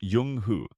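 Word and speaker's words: Zheng He: Famous Unic is Jung-ho pronounced Yung Hu who lived during the early Ming dynasty in the late 14th and early 15th centuries.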